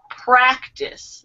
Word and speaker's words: practice: Practice. The intonation is on the A in practice.